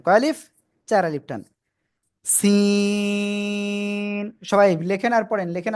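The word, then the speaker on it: سين: অক্ষরটার নাম কি আসলে জানেন একই জায়গা থেকে উচ্চারণ হবে এ অক্ষরটাও সি অনেকে কিন্তু চায়নার যে চিন বলে ওই চিন বলেন কিন্তু চীন না কিন্তু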